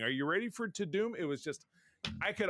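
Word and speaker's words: Tudum: It's pronounced To Doom, so it was Netflix To Doom event. Really? Apparently. To Doom. I thought it was Toddum, like Todd Dumb.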